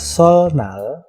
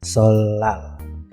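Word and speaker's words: 설날: Nah, di situ ada sol nal, ya, niennya berubah menjadi riel dan dibaca solal.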